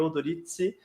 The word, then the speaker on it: Odorizzi: Mas a pronúncia italiana, em tese, seria Udoritse e Prioritse, né?